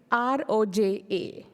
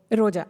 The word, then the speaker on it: Roja: name I would ask you is under oval r-o-j-a it's under the overall last second line of the slide sorry Roja yeah you're right Roja yeah and I can